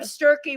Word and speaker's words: Sturkey: a last name of Stury. When I met this person five I think it was five years ago. It's been a while. Said to me rhymes with turkey.